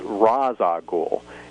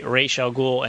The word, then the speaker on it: Ra's al Ghul: And he said that the correct pronunciation would be Ra's al Ghul, and there's almost like a trill on the R, so it's kind of difficult for non-Arabic speakers to really properly pronounce it.